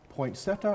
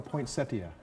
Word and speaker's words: poinsettia: Is it pronounced poinsettia or poinsettia? Either. Oh. It depends where you come from, which accent you have.